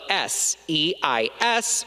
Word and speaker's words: seis: For example, the word for shoe, spelled Z-A-P-A-T-O, in distinción would be pronounced as zapato, while the word for six, spelled S-E-I-S, would be pronounced as seis.